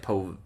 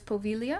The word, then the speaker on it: Poveglia: g l i a so it looks like POA for us Americans yeah but it's pilia yeah po or poia